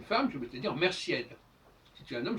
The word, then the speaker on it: merciède: Si tu es une femme, je vais te dire merciède. Si tu es un homme, je vais te dire mercier. Je ne prononce pas le D selon les règles du français.